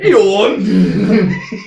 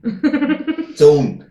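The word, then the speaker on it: Eoin: We got Ian, Yawn. we got Ian, we got Like a Eon. fucking foghorn. Or something like Yawn. Something very strange. It was not own. It's own.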